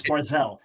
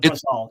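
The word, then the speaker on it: ברזל: Well, the Hebrew is Barzel. Anyone in the Hebrew knows it's Barzel. It's not Barzal. It's Barzel. Okay, so let's say I mispronounced it.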